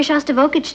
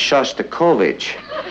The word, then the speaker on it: Shostakovich: He's taking me to hear Shostakovich tonight. Honey, I think that's pronounced Shostakovich.